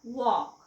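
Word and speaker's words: walk: असं का आहे ना वॉक वॉकचं स्पेलिंग डब्ल्यू एल के एल चा उच्चार तर आपण करतच नाही वॉक मग हे काय आहे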